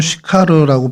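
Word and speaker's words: Συχάρ: 어, 헬라어 원어로는 슈카르라고 발음이 되는데요.이 슈카르가 원래 히브리어의 세카르를 어, 헬라어로 음역하다 보니까 이제 시카르로 발음이 됐고 저희 한글 성경에서는 그것을 수가로 번역을 합니다.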